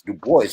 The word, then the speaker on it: Du Bois: he pronounced his name now we can pronounce it in French if you want to but that's how he pronounced his name he said his name was DuBois and that Dubois so